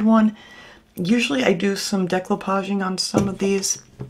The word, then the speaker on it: decoupage: And I know I don't pronounce it right. Everybody keeps correcting me, but I have said it that way my entire life. It's never going to change. So I know it's not decoupage, but that's how it